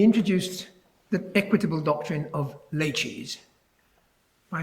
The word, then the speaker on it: laches: He introduced the equitable doctrine of laches by saying it's pronounced rather like it might be pronounced by a refined Chinese waiter, laches.